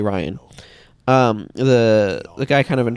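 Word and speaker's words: Rian: For example, Star Wars Episode 8, Ryan, I keep wanting to pronounce his name Ryan, but it's apparently Ryan.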